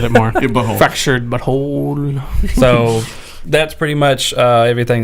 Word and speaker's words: Fractured But Whole: It's Fractured But Whole. Oh. Fractured But Whole. Like butthole. Fractured But Whole. Fractured But Whole. Yeah. Okay. I like the way he said it more. Butthole. Fractured But Whole.